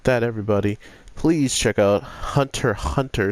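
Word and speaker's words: Hunter × Hunter: everybody please check out Hunter hunter since the X is silent I don't want to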